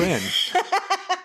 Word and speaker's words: En: N. He does a great job. I fucking... And it's spelled E-N. Yeah, not Ian. Just the letter N.